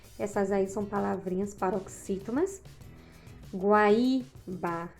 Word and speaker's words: Guaíba: Guaíba, guaíra são paroxítonas, porque suas sílabas tônicas são as penúltimas.